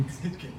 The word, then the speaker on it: Hitze: Hitze, right? Okay. Hitze.